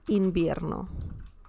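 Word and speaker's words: invierno: it you say El inbierno remember the V sound V as in Victor uh in Spanish is very similar to the bias in Belle okay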